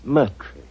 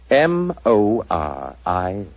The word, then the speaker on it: Moriarty: My name is Murtry.